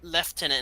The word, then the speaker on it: lieutenant: the British say l left tenant and not Lieutenant is the argument over